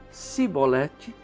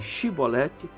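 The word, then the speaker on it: שיבולת: Se ele não fosse capaz de pronunciar a palavra e ele pronunciasse Sibolete em vez de Shibolete, ficava claro que estava mentindo.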